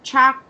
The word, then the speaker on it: charged: No T sound, just do. D. Charged. Charged.